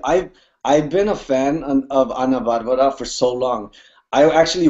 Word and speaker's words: Ana Bárbara: Ana Barbara, All la, right, sweet. la reina de la banda. Are you excited? I'm beyond excited. Let me tell you, I've been a fan of Ana Barbara for so long.